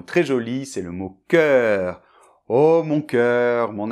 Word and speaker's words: cœur: e-dans-l’o suivi du U, ça doit être prononcé comme si c’était EU [œ]. On le retrouve aussi dans sœur, c’est-à-dire que c’est un son ouvert : [œ]. Donc on y va : CŒUR .